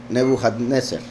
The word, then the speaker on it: Nebuchadnezzar: Bueno, el nombre Nabucodonosor significa, perdón, se pronunciaba Nebuchadnezzar.